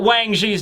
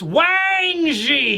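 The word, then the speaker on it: Wang Zhi: was probably pronounced like Wong Zhu or something like that so you know Wong Shu now it doesn't work it's wangji you gotta add emphasis on the Wang ladies and gentlemen all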